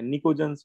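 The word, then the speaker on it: pnictogens: ठीक है, और इसमें पी साइलेंट होता है, निकोजन्स पढ़ते हैं इसको।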